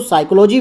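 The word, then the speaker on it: psychology: साइकोलॉजी एस से start होता है, लेकिन जो आपकी स्पेलिंग है वो कहाँ से स्टार्ट होती है? पी से। तो पी इसमें एक साइलेंट वर्ड है और पी का जो है हम पी का प्रोनाउंसिएशन नहीं करते हैं।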